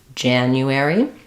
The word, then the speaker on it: January: have first syllable stress so Jan it's the J sound it's the a black cat vowel so Jan and then in this case letter U says U so not just the u sound but a y sound as well Janu um a r says air and then lastly y says e so January in February